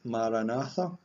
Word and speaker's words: Maranatha: We're going to say the word Maranatha, four syllables, Maranatha.